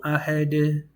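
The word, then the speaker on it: أحد: It's that the dal has a characteristic that it bounces. There's 5 letters that bounce, and that's pertaining to tajweed rules. So when we say Qul huwallahu ahad, you make the D bounce.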